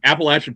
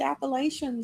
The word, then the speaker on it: Appalachian: And I get a kick out of it also because the first like 3 or 4 issues all centers around Appalachia, and Appalachian folklore is hilarious to me.